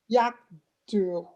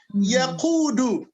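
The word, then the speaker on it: يقود: I'm not quite sure if it is right or if I'm saying it right, but I believe Yakdu, something along that line. Okay. Yaqudu. Yaqudu, yeah. Yaqudu Sayyara.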